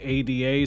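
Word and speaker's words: Eida: the episode comes out it's very similar to how ada is spelled e-i-d-a in the manga when it's really supposed to be ada so you just have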